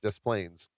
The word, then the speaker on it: Des Plaines: I don't know because the S is silent. Oh, yeah. So when I sold cars, there's a town in Illinois called Des Plaines. It's DES Plains, Des Plaines.